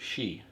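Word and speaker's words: shchi: how they pronounce it and it's yeah it's pronounced she which is a cabbage stew which I'm sure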